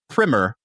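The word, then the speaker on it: primer: But just as a a brief little primmer on Canadian whiskey, that's why we don't have it that much. I I think it's pronounced primmer a uh what's that all about?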